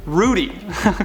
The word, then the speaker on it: ruddy: Pronounced like Woody." Oh, so it's Rudy.